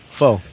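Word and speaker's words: phở: it's one two three four four four four 2 that's how pronounce fo it's it's not F it's fo foe I like foe Fox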